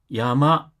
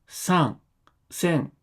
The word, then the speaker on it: 山: わゴの音である読みでは山と読みます。看護の音である音読みでは 3線と読みます。